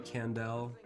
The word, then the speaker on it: Kandel: spotify youtube um kandel that's i it might be on the screen but k-a-n-d-e-l it's pronounced like howie mandel spelled like candle with the k and the elm i